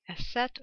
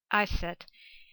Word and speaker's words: Isis: Isis of ancient Greek, original Egyptian pronunciation, more likely Aset or Iset, is a goddess in ancient Egyptian religious beliefs whose worship spread throughout the Greco-Roman world.